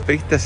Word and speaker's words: periodistas: Algunos periodistas ejercen el periodismo de una manera indecente. 3 errores. Dije pristas y prismo, y es periodistas y periodismo. Hay que pronunciar bien, basta de pereza vocal.